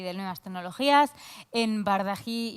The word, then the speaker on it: Bardají: de Nuevas Tecnologías en Bardají y Honrado. Sí, es que se pronuncia así. Perfectamente, y además siempre todo el mundo lo dice entre Bacardi o Bajardi, o sea que lo has dicho perfecto.